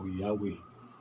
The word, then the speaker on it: Yahweh: Ang W, katapusan, H gapon, mabasa nila Yahweh. Ang YHWH. YHWH.